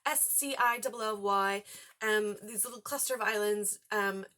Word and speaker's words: Scilly: This takes place on the, I'm going to say it wrong, Scilly Islands? Scilly.